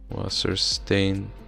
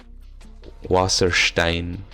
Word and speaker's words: Wasserstein: Theatre Development Fund, Swenny Wasserstein. Waterstain? This part is probably not. It doesn't. Sounds German. Wasser. I believe is water. Stein. Wasserstein. That might be how it's pronounced, but.